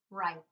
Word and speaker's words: write: So the first word we have is the word right. And you can see that it has that WR, but we do not pronounce the W.